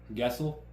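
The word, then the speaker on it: Gawsel: Guessel. He was my major professor of the PhD. How do you spell that?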